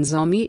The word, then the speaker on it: Zo: group and feel that Zo should be pronounced correctly as Jo to bring out its literal meaning as the descendants of their progenitor.